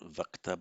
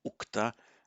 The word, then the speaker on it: ukta: The va becomes u, as I was explaining earlier in the same lesson, because in Vedic the stress is on the ta, so it's not vakta but ukta, and the ch to